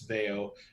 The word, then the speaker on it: Veio: of rome called veo uh the the modern pronunciation of the name is veo used to be called they with no o